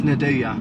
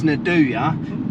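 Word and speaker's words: nduja: you say it yes nadua we had this debate at work I always kept calling it NAD but it's Nadya comment down below if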